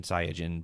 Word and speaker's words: Saiyajin: which he's a Saiyan, makes sense, or the Japanese pronunciation Saiyajin, but fuck that, that's too many syllables.